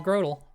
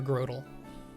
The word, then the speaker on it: Grotle: I always think Grotle because grow. Turtle, you know?